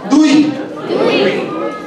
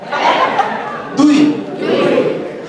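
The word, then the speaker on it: দুই: Dui. Tin. Char. Pass. Pass. One more time. Egg. Dui.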